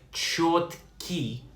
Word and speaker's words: чёткий: Pronounced like чёткий.